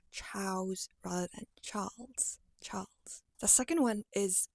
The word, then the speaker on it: Charles: is easy enough then let your tongue come up a little bit to form the l sound so Char Char and finally take on the z sound for me Charles Charles I would venture